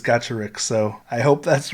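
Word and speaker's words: Gacharic: from gotcha rick spin i think it's gotcha rick someone told me it is so i was pronoun pronouncing it gakarik on my last video but someone said it's gotcha rick so i hope that's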